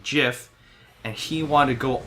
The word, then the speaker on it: GIF: just google it right the inventor himself calls it like the peanut butter ji f even though it spelled gif he says it's pronounced jiff and he want to